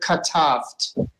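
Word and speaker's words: כתבת: So the first one would be ka, and the second one would be tavt. Tavt. Yes. Yeah. So let's all pronounce together katavt.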